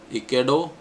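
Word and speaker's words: Ecuador: वी आई A then इकडो इसमें आर को हम नहीं बोलते हैं साइलेंट है देन कोलंबिया एंड देन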